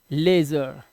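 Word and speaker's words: leisure: भी वर्ड्स हैं तो इसे पढ़ेंगे लेजर क्या पढ़ेंगे लेजर इसका मतलब होता है इत्मीनान से लेजर इत्मीनान ठीक है लेजर आराम इत्मीनान तो यहां पर साउंड क्या आया ए का इसी तरह से यहां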